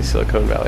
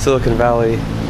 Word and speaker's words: Silicon Valley: less Sil Silicon Valley I say Silicone Valley I don't think that's how you say it Silicon Valley with a friend of